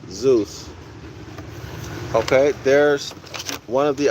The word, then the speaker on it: Zeus: Sometimes they pronounce it Zoo, Z-E-W. All right, Zeus.